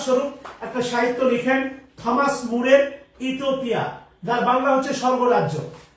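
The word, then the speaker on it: More: একটা সাহিত্য রচনা করলেন মুর। থমাস বাদ দেন, কেননা থমাস নামে আমরা অনেক সাহিত্যিক পাবো। থমাস কিড আছে, থমাস মুর আছে, আরো অনেক থমাস আছে। ওনার নাম হচ্ছে মোর না, উচ্চারণ করে মুর কি করলেন?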